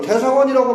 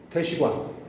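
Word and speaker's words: 大使館: 그러니까 대사관이라고 하면 틀리는 거예요. 대시관. 대시관이야, 대시관.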